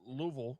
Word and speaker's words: Louisville: fall 2024 show in Louisville Kentucky or or Louisville as they say down there yeah say it right